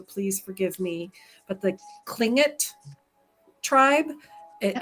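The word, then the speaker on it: Tlingit: Clink it. Clink it. It's kind of like that. She said like you go clink it like that's how you're supposed to work on Yeah.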